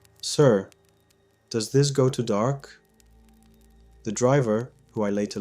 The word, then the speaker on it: Dahak: The principal said, "It's pronounced Dahak, but it's a pretty large village."